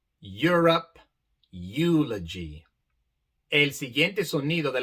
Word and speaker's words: Europe: palabras como neuron neuron europe europe e e vemos que aquí la e se pronuncia de forma larga i pero la u también se pronuncia neuron europe eulogy el siguiente sonido